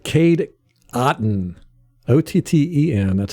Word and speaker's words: Otton: on phonics she said just say cotton it's like cotton without the c so now and i